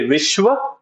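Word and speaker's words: विश्व: The Hindi word for world is vishwa. So say vishwa.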